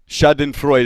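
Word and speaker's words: Schadenfreude: for the kek Army shad and frud Shaden Freud it looks okay so I Mis I mispronounced it but he he hooked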